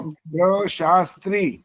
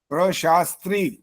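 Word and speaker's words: प्रशास्त्री: ध्र अग्नि ध्र आगे वाला शब्द सुनो प्र शास्त्री प्र प्र तो लिखना आता ही होगा प्र आगे श श में आ की मात्रा आ गई आगे स आधा और त में नीचे री प्र शास्त्री अब इसका जो कार्य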